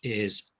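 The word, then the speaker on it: hay: the most useful word in the spanish language which is i it's h a y but it's pronounced i and it means there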